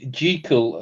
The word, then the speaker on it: Jekyll: I was listening to a podcast the other day, and they reckon the correct pronunciation is Jekyll and Hyde because he's Scottish or something.